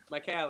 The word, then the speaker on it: Micale: Micale is what it's supposed to be, I guess.